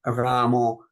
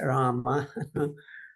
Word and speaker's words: Rama: But I'm sure that many people are just not aware that, Ramo is not as proper as Rama.